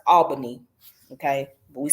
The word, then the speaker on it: Albany: albany georgia or what down here would say albani but it's actually pronounced albany okay but we say albini but those others from the south but anyways